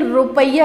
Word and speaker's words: rupiah: तो इंडोनेशिया की जो कैपिटल है वो है जकार्ता, और इसकी करेंसी है रुपया। ध्यान देख रहे हैं, रुपी नहीं, रुपया ऐसे प्रोनाउंशिएट करते हैं, RUPIAH, रुपया।